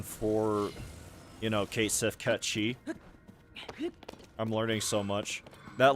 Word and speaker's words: Cait Sith: that that specific, like I guess type of pronunciation for you know, Cait Sith Ketchy.